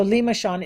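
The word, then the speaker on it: limaçon: c o n and I think I said it wrong Lima Shan no that's right so Lima Shan it's French it means snail and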